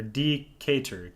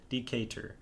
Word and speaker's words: Decatur: it's kind of hard to tell oh i mispronounced the town name earlier it's a dk or d cater decatur okay thank you for that steve i knew